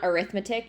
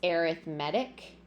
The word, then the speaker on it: arithmetic: It's not arithmetic, it's arithmetic in this particular case.